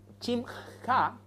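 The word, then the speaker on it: שמחה: Hay 2 palabras en el idioma hebreo y en el idioma griego, chimja, ¿no es cierto?, se pronuncia, y jará en el griego, de donde se deriva la palabra jarana, ¿no es cierto?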